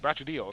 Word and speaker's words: Brachydios: Brachydios.